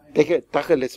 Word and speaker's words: Tacheles: Dacheles wird das ausgesprochen, ne? Ja, also Dacheles.